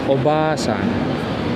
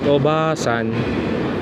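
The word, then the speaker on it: おばあさん: making it obasan uh please take note of this pronunciation because if if you pronounce it right obasan that means grandmother but if you fail to prolong that ba and and you just pronounce it very short obasan it's Auntie it's Aunt so you have to be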